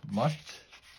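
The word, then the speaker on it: musth: to mate this time it's called mush pronounced must today people know they're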